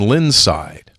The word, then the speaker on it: Lindside: lindside in Monroe tip the D is silent in lindside there you go texter anyway